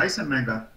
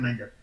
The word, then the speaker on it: Eisenmenger: Realmente, si alguno habla alemán, uno debería pronunciar eso como Eisenmenger, pero estamos en Guate, así es que dicen Menger.